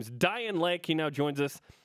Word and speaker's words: Dayan: pronounced Dian right yeah it's like Ryan with a d like Ryan with a